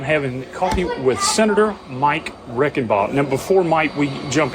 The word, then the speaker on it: Reichenbach: So phonetically, it'd be Reichenbach, is how my great-great-grandfather and grandmother would have pronounced it there. Over the years, we've simplified it to Reichenball, but Reichenbach is how it would have been pronounced.